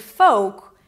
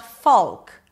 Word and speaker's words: folk: Queer as, and then we have the word folk. It is not folk. There is no L and the O is a long O as in go.